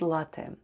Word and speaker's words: ЛАТТЕ: Let's spell the word latte. The first sound is L, then goes A, then double T, and Y at the end. Y at the end of latte sounds like E, and altogether it's latte.